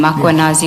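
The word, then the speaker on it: Mkhwanazi: Draft for MMC IPED Makwanazi, just as you pronounce his name, Makwanazi with the A.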